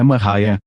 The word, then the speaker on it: Maria: Maria, cuja pronúncia é Mariah, nasceu em 1844 em uma fazenda de Lisbon, Ohio.